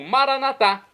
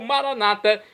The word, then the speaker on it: maranatá: E agora eu clamo maranatá, como dizemos nós católicos, ou maranata, como dizem nossos irmãos das comunidades protestantes ou evangélicas. Não importa a pronúncia, o significado, é o mesmo vinde, Senhor Jesus.